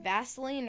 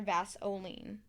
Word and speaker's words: Vaseline: effect is about vaseline is it pronounced vaseline or vasoline vaseline with an ear oh i used to